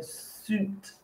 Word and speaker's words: suit: suit okay so again the i don't really pronounce it's more like an ooh sound so suit okay so that is